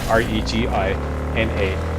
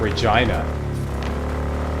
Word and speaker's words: Regina: So that's that's proof positive that Canadians pronounce a woman's name, which is spelled R E G I N A, Regina, as opposed to Regina.